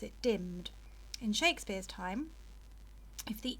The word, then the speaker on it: dimm'd: owest and grossed but Shakespeare has just got rid of the E and put the apostrophe in there so it says dimmed because and often is